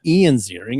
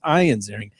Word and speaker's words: Ian Ziering: Well done pronouncing his name correctly. It's Ian? not Ian Ziering. It's Ian Ziering.